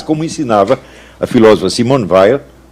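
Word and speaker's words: Weil: ensinava a filósofa Simon ve os franceses pronunciam Veil mas eu me recuso a fazer isso eh no livro Lan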